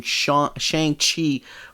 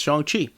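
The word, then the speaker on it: Shang-Chi: rider zhang chi yeah thanks to that movie i've been pronouncing shang chi for 30 plus years of my life but apparently it's chongqi uh son of satan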